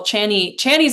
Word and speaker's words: Chani: go to Pattern or CoStar or even the Chani app? If there are people who are listening who are astrology people, Chani's another great, I love Chani Nicholas.